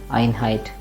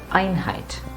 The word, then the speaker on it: Einheit: as I stressed that Ironhide never said plain and simple are in height like that no no no that doesn't sound good like at all although